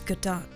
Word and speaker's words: Godot: i can't do this it's not gobo it's gadot your honor i said it wrong